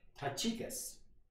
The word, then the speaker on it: Tychicus: Okay, one more, and his name is Tychicus, and that is the way you're supposed to pronounce it.